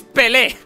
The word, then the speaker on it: Pelé: De hecho, no es Pele, es Pele, ¿vale? ¡Es Pele! Donde lo he leído no tenía el acento en la segunda, vale, ahora me acabo de dar cuenta de que sí, premos.